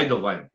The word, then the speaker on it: Eidelwein: É Eidelwein. Poucas Ah, pessoas pronunciam corretamente, né?